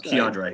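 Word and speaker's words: K'Andre: there be a problem or i'm sorry it's k andre it's andre yeah andre yeah i need to make sure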